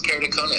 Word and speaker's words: keratoconus: How do you treat keratoconus, or however you pronounce that, keratoconus? Yes, keratoconus.